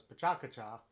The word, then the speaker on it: Pecha Kucha: a long time ago pk in case you don't know is pachakacha which looks like pecha kucha if you just spell it out normally and it was about